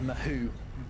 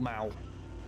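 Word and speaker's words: Mahou: a beer called a mahoo it's spelled like mahoo but it's called Mao it's a Spanish beer and it's very yummy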